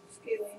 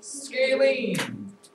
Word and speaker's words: scalene: Rhymes with Kayleen? Scalene. Scalene.